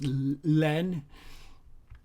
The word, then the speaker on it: La Haine: It's spelled La Haine, but in French it's Len.